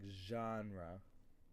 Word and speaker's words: genre: you pronounce it like genre yep it's a French word and it means like